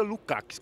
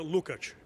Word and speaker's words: Lucx: O seu nome não se pronuncia Lukax? Como que se pronuncia? Itu nome pronuncia Lucat. Lucat. Isso.